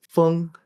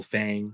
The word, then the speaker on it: Feng: Well, technically in Chinese, it's Feng. So it could be like Feng, but I think I've kind of grown up and everyone's been saying like Fang, like kind of pronouncing it as if the E was an A.